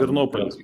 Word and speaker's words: Ternopil: piece of Ukraine around Lvov, perhaps up to Ternopil, I don't know how to pronounce it properly. Please excuse me if I'm Ternopil, yeah.